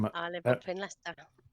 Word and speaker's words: Leicester: And the guy next to me just says, "It's pronounced Leicester."